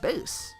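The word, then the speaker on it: Bass: you think of this I think it's pronounced base you know musical terms and all that his actions don't seem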